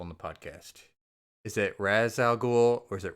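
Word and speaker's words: Ra's al Ghul: Is it Razal Ghoul or is it Ray Shal? So I heard that the correct Arabic pronunciation is Rosal Ghoul. Same. But I prefer Ray Shel. That's the one I prefer.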